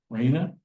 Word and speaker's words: Raina: So, we do have Raina. Did I say it right? Yes.